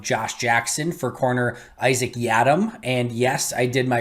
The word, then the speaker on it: Yiadom: it uh for isaac's last name so it's ya dumb y e y-e-a-h-d-u-m is how you pronounce it apparently so isaac y adam is